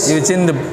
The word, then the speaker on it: Eugene Dubois: Itu bacanya apa yang benar? Yujin deboa. Eugene Dubois. Eugene Dubois dulu memusatkan penelitian di Trinil, karena ketika masyarakat menemukan ini maka dia itu datang ke sangiran.